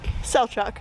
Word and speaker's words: Selçuk: Okay, so we have made it here to, how do you pronounce the name of this place? Selçuk? Selçuk, okay, that sounds good.